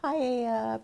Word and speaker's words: paella: Fajitas, wok, paella pan. The answer will be... It is a paella pan. No. How come the L is silent? Shouldn't it be paella?